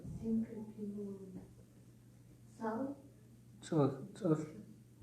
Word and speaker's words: Tsahl: T-S-A-H-L. No, but how do you pronounce? Tsahl. Su. Put your tongue up here. Su. Tsa. Su. It's like you're spitting. No, it's like the U in Sun. Not ah.